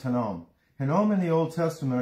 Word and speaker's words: Hinnom: Hinnom, pronounced Hinnom.